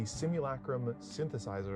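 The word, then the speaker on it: Simulacrum Synthesizer: I think it says Legacy Play at this point, but it's the Simulacrim Synthesizer. And I'm glad I got to say it properly because that's a bit of a tongue twister for me.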